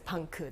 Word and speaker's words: VANK: a bit on punks i love the way you pronounced it as pancu the korean way punk's upcoming agenda amid